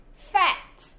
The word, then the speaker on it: fat: Cái từ fat nó có nguyên âm a không? À, nó có không? Có đúng không? Và fat nó là mấy âm tiết? Đúng rồi, một âm tiết, thế nên là chúng ta phát âm cái âm a là a a a a fat fat.